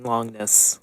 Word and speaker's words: Longinus: It's spelled like longinus. Longinus. But it's pronounced like longness, kind of. There's a little hint of the G in there.